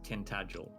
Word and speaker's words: Tintagel: Uh, so I'm trying to think of uh, so you have a word like tintagel, which is literally how it's spelled.